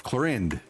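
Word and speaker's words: Clorinde: How is it pronounced Clarinde? When it's clearly no A in the name. It's Clarinde.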